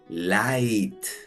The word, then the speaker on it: light: La primera sílaba termina en vocal y es con el sonido abierto de la I. Light, light.